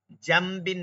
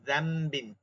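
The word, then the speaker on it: ذنب: দেখেন, জামবিন না কিন্তু যামবিন। কি দিয়ে? জালের উচ্চারণ আমরা অলরেডি কিন্তু করতে পারি, যামবিন, যাম, যাম। ঠিক আছে, জামবিন হবে না কিন্তু, খেয়াল করবো, জিম দ্বারা না, জাল দ্বারা।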